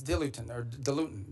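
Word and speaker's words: diluent: In fact, one of the things they need is dilutant, depending how you want to pronounce it.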